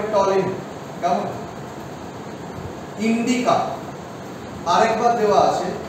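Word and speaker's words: Ptolemy: এবারে গ্রিকদের মধ্যে কি কি নাম দেখতেই পাবে, ইন্ডিকা, মেগাস্থেনিস, জিওগ্রাফি টলেমি, উচ্চারণটা হবে টলেমি, কেমন?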